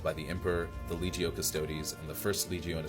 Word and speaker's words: Custodes: The focus of today's video is going to be the Adeptus Custodes, not custodes.